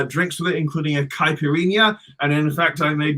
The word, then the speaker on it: caipirinha: for peranja rania piranha because when you have an n followed by an h it's like a an n with a tilde in spanish i'm fine like caipirinha is n-h-a and piranha is nha